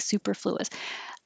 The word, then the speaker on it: superfluous: I think superfluous. Not that I need to spell it very often, but the stress is on the second syllable, superfluous, superfluous, extravaganza, extravaganza.